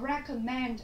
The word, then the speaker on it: recommend: Ở đáp án B thì chúng ta có cho cô giáo từ giới thiệu đề xuất, mình có recommend, như vậy trọng âm của chúng ta cũng dâm thứ ba.